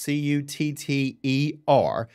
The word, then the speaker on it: Koetter: Smith and then you're with cutter and that's pronounced c-u-t-t-e-r so that's cutter and then where exactly are